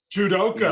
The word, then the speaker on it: judoka: Judoka.